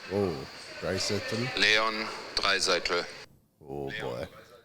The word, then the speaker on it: Draisaitl: But, like, when the players actually pronounce their names correctly. Yeah. Like, Leon Draisaitl. Leon Draisaitl. Oh, Draisaitl.